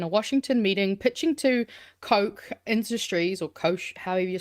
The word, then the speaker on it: Koch: Washington meeting, pitching to Koch Industries, or Koch, however you're supposed to pronounce that, K-O-C-H. Oh, okay, not like Coca-Cola, the Koch brothers.